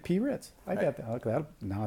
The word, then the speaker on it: Pritz: friend Allan and now your last name is pres pronounced Prince kind of like Prince only only known as PR well it's easier for people to think the crackers with the p oh there you goit P rits I got that that